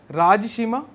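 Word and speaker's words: Rajasimha: to save century comma built by राज समा यह उनका ही नाम है आर ए जे ए एस एच आई एम ए यह पेपर में घुमा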